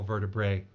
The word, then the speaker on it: vertebrae: cleanly through his cervical vertebrae. And actually, it's pronounced bree because it has to rhyme with sight of me.